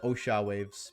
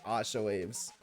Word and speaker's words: Osha waves: It's actually been Osha waves the entire time. I just have been pronouncing it Asha waves.